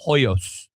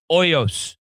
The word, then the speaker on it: Hoyos: You promised me the H is silent on that. Okay, that is the rule. Sasha is my guy and he was saying Hoyos. Oyos.